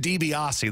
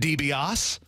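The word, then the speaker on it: DiBiase: loved wrestling Lov Ted debiasi that's her favorite wrestler of all time Goldberg and Ted debiasi but she couldn't pronounce his name she'd say say Grandma who's your favorite wrestler she'd say Ted debos I'd say that's good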